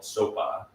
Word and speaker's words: Xopa: My favorite one is called Sopa, and it is spelled Xopa.